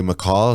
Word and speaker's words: Macall: got some good guests today we got jose mccall is that the correct way to say your